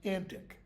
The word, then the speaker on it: antique: these antique or antic in Shakespeare's day that word is pronounced antic like if you are